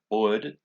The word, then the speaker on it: brød: Now, just a little warning about this word, brød. It's very hard to pronounce, to sort of differentiate between like just saying bread and brod, the bread, especially in this because they talk quite fast.